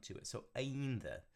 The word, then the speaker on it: ainda: Okay, and that D there with most D's in Portuguese, they're not like these strong, like hard d. It's more of a almost like a TH sound to it. So ainda.